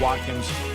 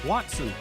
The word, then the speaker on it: Watson: Bubba Watkins, his new book, Up and Down, is ready to go. I said it right that time. You said Watkins. What's his name? Watson.